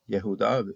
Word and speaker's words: Yehudá: De 3 sílabas, Judá, Judá, Judá. Curiosamente, entre sellos, ese proceso también se iba ya, Yehudá, algunos sellos tenían así el nombre completo, otros